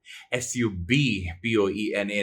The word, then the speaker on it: subpoena: The word for today is subpoena. S-U-B-P-O-E-N-A. Now, the B is silent, so you just say subpoena.